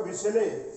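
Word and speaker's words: Bachelet: नतीजा ये हुआ कि वायुसेना के जो चीफ थे उन्होंने विरोध किया था, अल्बर्टो बिसेले, ये उच्चारण वगैरह ध्यान में रखेंगे, इसको हम बिसेले कहेंगे, तो उनको भी नजर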